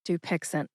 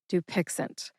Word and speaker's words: Dupixent: You put all three syllables together and you get dupixent. I'll say it kind of slow here. Doixent. Dupixent. Emphasize that first syllable.